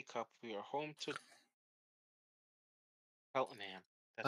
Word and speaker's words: Cheltenham: We are home to Cheltenham. That's how I'm you pronounce I'm it.